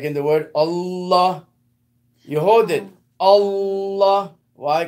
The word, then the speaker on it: Allah: So it's not like we read in English, Allah, Allah, Allah. No. It's all, you hold the lamb, Allah, Allah.